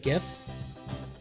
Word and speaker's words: GIF: gonna make an animated gif it stands for graphic it's a graphic it's a G it's a hard G but good okay anyway